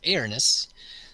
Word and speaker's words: Aarnes: help of his buddies, Aarnes. And I don't know if that's how he's supposed to pronounce his name. I've actually talked to the player a few times. That's how he pronounced it.